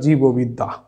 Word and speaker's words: জীববিদ্যা: তারপর আসছে জীববিদ্যা, এই বর্গজয় দীর্ঘি, এই দীর্ঘিকারটা যখন আমি উচ্চারণে রূপ দিচ্ছি তখন এই দীর্ঘইকারটা হয়েছে রস্যিকার অর্থাৎ জীববিদ্যা।